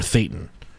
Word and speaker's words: Thetan: Is your Thetan. Or, like, it's Satan with a lisp is how it's pronounced.